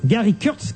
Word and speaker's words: Gary Kurtz: euh Laurent Boyer l'animateur invité quelqu'un qui s'appelle Gary Kurtz je prononce bien son nom tout à fait Gary Kurtz qui alors a fait quelques expériences alors vous